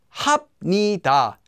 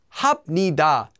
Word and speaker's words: 합니다: If the second syllable then begins with the consonant, 니은 or 미음, the 비읍 will become pronounced as 미음. So here are a few examples. 합니다, 합니다, 합니다, 합니다, 합니다, 합니다, 합니다.